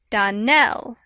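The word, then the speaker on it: Donnell: would set it right Donell Accent on the last syllable and sa Clare on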